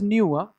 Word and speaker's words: nu: This symbol is nu. Nu. It is pronounced nu.